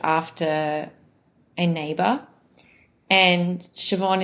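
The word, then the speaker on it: Siobhan: a neighbor and and shobon is an Irish name uh which is quite common in Australia now um and it's spelled o b h n um and my my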